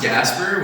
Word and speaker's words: Gasper: knew how to pronounce gasper which is my name it's not that hard it's just like it's just casper with a g and i i like